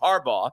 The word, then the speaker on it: Harbaugh: So I'm making an emphasis, just like Jim Harbaugh.